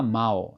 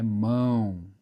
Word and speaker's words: mão: A gente fala, não fala mal, é mão. É mão, é um som fechado, certo?